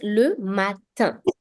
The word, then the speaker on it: matin: Like for this word, we pronounced it as le matin. Basically, the IN at the end is creating a new sound.